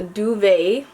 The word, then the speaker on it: duvet: not saying it right it's a French term she says and it's called a duvet so yes I was